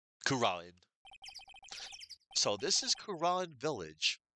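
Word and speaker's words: Kurain: Yeah, that's how it's pronounced. Kuran. Not Kurin. Kuran.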